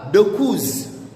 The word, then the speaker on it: dokuz: Na namba tisa utamkwa dokuz.